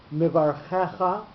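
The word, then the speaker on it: מְבָרְכֶךָ: Mivarchecha, the second last syllable, the che is accented, so that's a mil'el word, and v'nivrechu is a milra word.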